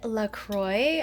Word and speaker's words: LaCroix: risotto by the way have you guys tried Lacroix I learned that that is the correct pronunciation today I used to call it luck